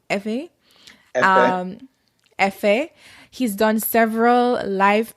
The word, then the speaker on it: Hifi: He's been featured in the Hifi magazine. Am I pronouncing that right, Kofi? Yes, correct. Hifi? Hifi.